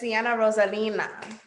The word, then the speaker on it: Cienna Rosalina: No, it's Cienna Rosalina.